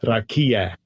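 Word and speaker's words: רקיע: actually say it for you so you can pronounce it right. Strong's H 7549. Say it out loud. Rakia.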